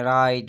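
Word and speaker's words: write: अगर ये आर से पहले डब्ल्यू आता है तो डब्ल्यू क्या है हमारा, हमेशा साइलेंट होगा। यहाँ पे मैंने 4-5 लफ्ज़ लिखे हैं जैसे कि राइट, रॉन्ग, रेस्ट, स्टेप।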